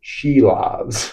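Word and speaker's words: Šilovs: It's pronounced Sheilovs. He's a Latian. So Arthur's Sheilobs is his name.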